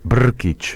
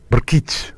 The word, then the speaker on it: Brkich: pronunciado tu apellido no Cómo se pronuncia br r K brk brk br es una I y una ch brkich Y eso es croata croata br brkich brkich Ay brich y